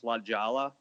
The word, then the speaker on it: La Jolla: I think you guys are pronouncing it wrong. It's Lajala.